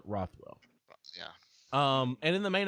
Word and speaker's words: Rothwell: Ben Rothwell. Rothwell. Yeah. Rothwell. Rothwell. Yeah. Yeah. Rothwell. Rothwell. Like Rockwell, but Rothwell.